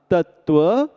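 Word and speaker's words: तत्त्व: उच्चारण हुआ वांग मय अब तत्व बोलते समय शब्द तत्व में जो दो हलंत है उनमें से एक ता के साथ मिलाकर तत और दूसरा वा के साथ मिला कर के बोलिएगा त्व सो पूरा शब्द हुआ तत्व बोध इस प्रकार भक्तावर जी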